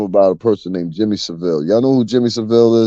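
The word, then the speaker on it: Savile: is Jimmy Seville Seville I said Seville but Seville that's how you pronounce it in English and Jimmy Seville right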